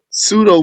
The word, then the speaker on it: pseudo: Pseudo means fake, inauthentic. And the P is silent. So, you don't say the P. You just say the S.